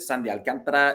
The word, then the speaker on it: Sandy Alcantara: sean barrett sandy alcantara that is how you pronounce it sandy alcantara is an all-star and deservedly so gut feel